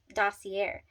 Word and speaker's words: Dossier: So Dossier is how you pronounce Dossier.